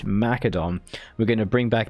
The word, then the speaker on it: Macedon: and I thought I'd jump into it as Macedon. That's right, I can pronounce it properly. It's Macedon.